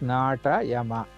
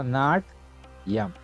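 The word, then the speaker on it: नाट्यम्: If you don't put the dashes, it becomes nata yama, like that. So not yam.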